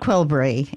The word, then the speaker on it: Qelbree: And will you spell that for me, Justin? I want to make sure you've got the right. It's Qelbree. It's relatively new. It's a norepinephrine uptake inhibitor. Right, Qelbree.